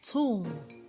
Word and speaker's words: tomb: We have tomb. B is also silent.